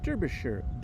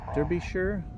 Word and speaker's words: Derbyshire: And Sam Richardson is here from Derbyshire. I always say it wrong. Derbyshire. I gotta get back to England with that pronunciation.